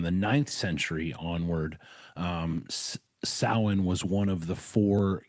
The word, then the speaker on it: Samhain: It did uh Halloween originated as sin is how it's pronounced. It's it is uh spelled out as much as Americans would say Sam Hayne.